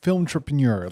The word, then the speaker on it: Filmtrepreneur: Filmtrepreneur, like entrepreneur, but combined with film.